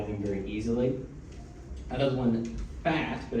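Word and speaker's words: Phat!: you can buy them very easily another one fat but it's pronounced or it's spelled p h a t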